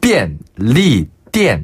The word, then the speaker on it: 便利店: 이게 삐 할 때 삐. 네. 그리고 삐엔. 삐엔. 엔드 할 때 엔입니다. 그래서 네. 便利店. 네. 哦 띠엔 할 때 띠자는 네. 이 쌍디귿 발음으로 띠엔 하시면 되는데요. 店. 그렇죠. 가게, 점원 할 때의 그 점자 있죠. 무슨 점 할 때.